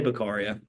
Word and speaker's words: Beccaria: Cesare Beccaria. Some say Beccaria, however you want to pronounce it.